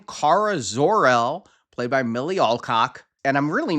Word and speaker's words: Alcock: I looked it up. It is Alcock. It sounds dirty, but it is Alcock. Okay, it does. I know people are going to say I'm saying it wrong, but according to the YouTube video, which I sent to both of you, it was Alcock.